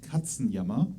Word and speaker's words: Katzenjammer: It is Land of Confusion by Genesis, as covered by Katzenjammer, which I think from the Netherlands. I can't remember where we're from. The name is pronounced Katzenjammer.